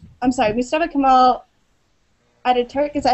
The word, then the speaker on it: Mustafa Kemal Atatürk: So can you act like, I'm sorry, Mustafa Kemal Atatürk, is that how you pronounce it?